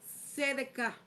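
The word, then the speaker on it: צדק: En hebreo, la palabra significa sedec o sedek s e d a k a con acento, pero se pronuncia sedek.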